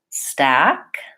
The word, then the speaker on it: stack: listen to them all stack forward stock open it back stuck very central relaxed tongue not very open same thing goes then